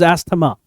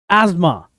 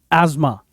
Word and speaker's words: asthma: ये लोग प्रोनाउंस करते हैं एस्थमा, but it is not pronounced as asthma. The correct pronunciation is asthma. Not asthma, but asthma.